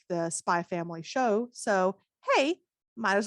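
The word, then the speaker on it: Spy × Family: first up we have spy family by tetsuya endo you don't pronounce the accents by family it's therefore a stylization choice spy family is about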